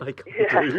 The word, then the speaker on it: taekwondo: Well, we've got some medal chances in how do you pronounce it? Taekwondo.